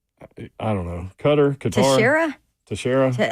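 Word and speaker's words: Teixeira: Tasher. How do you say it? It is Tara. Okay. Tasher. Yeah, cuz we asked him how to say it and that's what he said.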